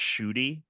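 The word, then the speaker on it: Ncuti: you explained that uh the 15th doctor's name is pronounced shoy right like pronounce it I'm in all of these meetings and people are just like being like Niki and like and all this stuff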